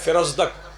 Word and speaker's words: فرزدق: فرزدق وہ ہے، فرزدق تلفظ اس کا ہے فرزدق.